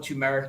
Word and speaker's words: turmeric: Turmeric now has 2 R's in it. So it's pronounced turmeric, Turmeric.